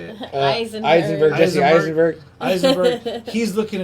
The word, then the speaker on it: Eisenberg: where Heisenberg, is that how you say it? Eisenberg, Jesse Eisenberg.